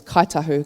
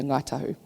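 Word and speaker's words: Kāi Tahu: which we reside, is Kaitahu, Kate Momoe and Waitaha country. So you'll hear Ngaitahu. K is, the NG is pronounced K when you're talking from Kaitahu dialect.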